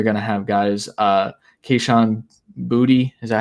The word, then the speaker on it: Boutte: Keyshawn Booty, is that how you say his name? Boutte.